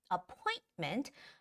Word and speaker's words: appointment: to schedule an appointment appointment the stress goes on the oi syllable so appointment please leave